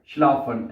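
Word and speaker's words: schlafen: इश डाफ होइटे लिंग श्लाफन, S verb and पे चली जाएगी, श्लाफन, एस सी एच स्पेलिंग यही है ना, एस सी एच एल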